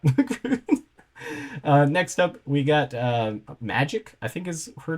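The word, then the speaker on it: Magik: Next up, we got Magic, I think is her name. I don't actually know how to pronounce it. It has the K, so I think it's just Magic, but you never know.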